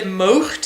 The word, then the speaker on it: moogt: The next word, moogt, think of mowing a lawn, mowed. And then put in something of the Scottish loch, moogt.